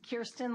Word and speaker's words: Kirsten: My name is Kirsten, like your ear, Vital Bruelty.